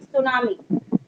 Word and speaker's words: tsunami: देखो ये रहा TSU, इसमें टी साइलेंट होता है, TSUNAMI, सुनामी।